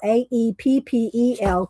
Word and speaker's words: Aeppol: It's pronounced Apple, Aeppel, Korean artist.